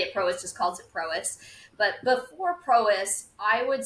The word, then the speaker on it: Prois: anything to do with the way that we pronounce it. Everybody at Prois just calls it Prois.